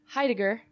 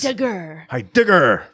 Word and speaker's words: Heidegger: right now with Nicoletta Heidegger. Yeah, I got it right. Okay, close. Cool. Oh, it's pretty close. How would you say it? Heidegger. Oh, I was too heavy on the G's. Heidegger.